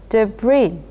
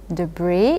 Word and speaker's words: debris: need your help again debris uh you don't pronounce the last s so it's a bit of a funny word but anyway debris it's broken or torn